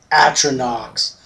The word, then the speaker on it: Atronachs: Atronachs. That's how you pronounce that.